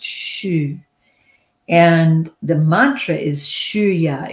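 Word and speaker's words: xu: And surely I posted it earlier, but if you can post it again, the sound for the universal sound for the wood element is shu, X-U, pronounced shu.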